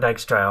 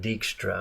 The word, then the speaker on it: Dykstra: It was like, oh yeah, John Dykstra over there, he's working on the Dykstraflex camera, so they can do multi passes on that. We actually called him John Dykstra, and we thought it was such a cool name like that.